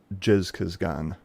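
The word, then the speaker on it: Zhezkazgan: uh some years back it basically has the same pronunciation but I think they spell it with a J now but it's like jizz Gan um and it's about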